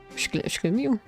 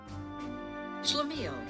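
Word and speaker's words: schlemiel: Google, tell me how to pronounce this. Shlamil. Shlamil. Shlamil.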